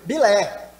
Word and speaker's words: Bilé: E ele não conseguia pronunciar, obviamente, essa palavra corretamente, né, desse goleiro. E aí ele falava com a língua meio que enrolada, né? Nisso ele falava Pelé, soltava sem querer esse nome Pelé aí, né?